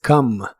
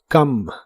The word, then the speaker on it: come: El verbo venir en el presente de inglés es come. La o se pronuncia como a en esta palabra y la e del final es muda. Come.